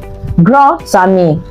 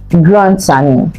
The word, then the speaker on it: grand ami: So if grand ends with D and ami begins with A, the D will be linked to the A, then you pronounce the D as T. Grand ami.